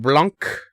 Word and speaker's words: Blanc: a cute little game by the name of blanc you gotta say it like that you guys say blanc